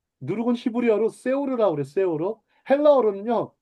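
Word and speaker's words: שאור: 자, 누룩은 히브리어로 세오르라고 그래, 세오르. 헬라어로는요, 발음이 좀 재밌어요.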